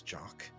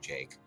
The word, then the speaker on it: Jake: I was irritated, as I am now, at your antics, Jock. But I perceived it differently. It's pronounced Jake.